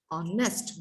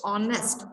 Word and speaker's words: honest: When you pronounce the word honest, when we pronounce h is silent in the word, okay, so honest, o is your as a vowel, okay.